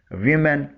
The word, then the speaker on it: women: حروف میں تبدیلی مین میں ہوتی ہے، مگر تلفظ پہلے پورشن وو کا تبدیل ہوتا ہے جسے وی بولا جاتا ہے. یعنی پلورل ہونے کی صورت میں اسے ویمن بولا جاتا ہے.